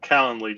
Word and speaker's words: Calendly: more effectively and efficiently and obviously you're cend calendly just for the audience um did I say